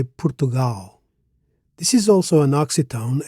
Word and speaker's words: Portugal: In English we say Portugal. In Portuguese we say Portugal.